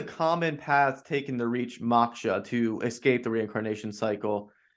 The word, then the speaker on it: moksha: But what are some of the main paths people follow to reach moksha generally? It small correction. It's normally pronounced moksha, Oh, moksha.